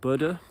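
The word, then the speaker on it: Bodø: Anyway, from Buda, as I've been told to pronounce it, uh and it is literally What time is it now?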